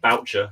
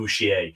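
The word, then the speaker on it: Bourchier: Although it's quite funny, because I think he's meant to be pronounced like the actual French pronunciation would be Bouchier. It reminds me of Hyacinth, Bouquet. It's like, fuck it. And it's actually no, mate. Your name's Boucher.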